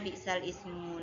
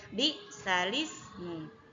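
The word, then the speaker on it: بئس الاسم: lafal Bi Sal Ismu tidak boleh dibaca bisa Ismu namun harus dibaca di salismu jadi Hamzah yang awalnya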